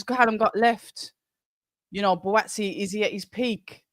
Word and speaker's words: Buatsi: next fight is Joshua Buatsi, Joshua Sena Buatche, if you pronounce it correctly, and Callum Smith, light heavyweight bout.